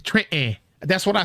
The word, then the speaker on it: Trenton: The T is silent. Trenton. You like, wait a minute. I thought it was Trenton. No, it's Trenton.